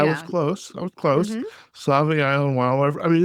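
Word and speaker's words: Sauvie: How do you pronounce this? Is it Save Sabi Island? I was close. I was close. Save Island.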